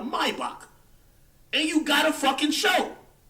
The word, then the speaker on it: Maybach: then because you got a Maybach or let me say it correctly a Maybach and you got a